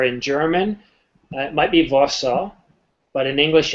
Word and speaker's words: Warsaw: how can i pronounce warsaw or varso with a v sound or with a w well in english we pronounce it as though it's two separate words war saw warsaw now i don't know